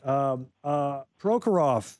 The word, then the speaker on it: Prokhorov: Prokhorov, is that how it's pronounced, the owner?